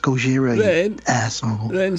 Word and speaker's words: Gojira: And we call this Godzilla. And she's like, it's pronounced Gojira, you asshole.